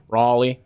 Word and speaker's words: Riley: Like, my name is just, I mean, my name is Riley. My name in real life is Riley. And I've worked with some Southern ladies that would pronounce it Raleigh, and then everybody, like, loved that, became a nickname, whole thing.